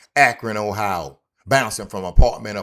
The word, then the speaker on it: Akron: Akron, Ohio.